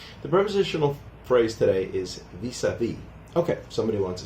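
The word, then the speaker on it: vis-à-vis: The phrase derives directly from French and that's why we actually pronounce it vis-a-vis. A lot of times in French the last letter is silent.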